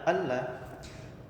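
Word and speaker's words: أن لا: Alla yaitu kata an yang ditulis secara terpisah dengan huruf la. Maka dibacanya alla.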